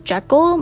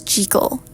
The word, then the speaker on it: Jekyll: I've always thought that it was pronounced as Jeekal, but it's pronounced as Jal.